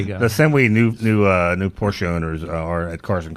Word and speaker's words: Porsche: Is it true that Porsche is a 2-syllable name?